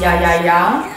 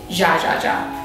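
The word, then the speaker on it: Jajaja: supposed to be pronounced ya ya ya, but the restaurant actually purposefully pronounces it ja ja ja. I think it's supposed to be like ironic, like beyond any.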